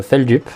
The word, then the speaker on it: Feldup: dupe et du coup ça se prononce fel dupe et voilà c'est tout